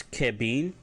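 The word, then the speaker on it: kebiin: If you want to say blue, it's Kebin, Kebin, which is blue, K-E-B-I-I-N.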